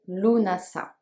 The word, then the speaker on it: Lughnasadh: connecté à son coeur a priori louvain sade se prononcerait luna ça il faut également savoir